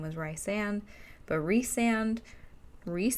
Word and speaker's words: Rhys: I call him Rhys because it makes sense that his name, the way it's spelled and the way they break it up, would be Rhys, because rice doesn't make sense. Rhysand would, I guess, be fine, but rice is a little weird.